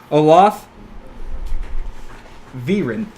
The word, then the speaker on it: Olath Verin: I'm pronouncing that correctly let me see if I'm pronouncing that good Olaf Veeran that's what it is hola - hola biron